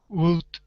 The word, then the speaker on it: would: The L is silent. Would shout. Would shout.